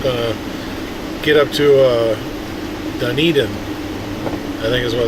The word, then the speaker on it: Dunedin: Duneden is the way the lady at the gas station pronounces it. Because I told her Dunedin or Dueden or she goes Duneden.